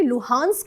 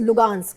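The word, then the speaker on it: Luhansk: का जो रीजन है वो एक्चुअली लुहांस्क है, लेकिन उसका प्रोनाउंसिएशन ग है, एच का, तो इट्स लुगांस्क एंड डोनेस्क।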